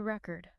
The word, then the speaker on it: record: I need to record a new record. Perfect. Noun versus verb. The stress shifts from the second syllable to the first.